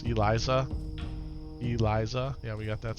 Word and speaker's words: Eliza: Kept saying Elsa's heart for the embalmer, and it's Eliza.